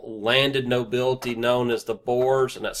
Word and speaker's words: boyar: They have a large and powerful landed nobility known as the Boers, and that's spelled Boyars, one of your vocabulary words that you were supposed to look up.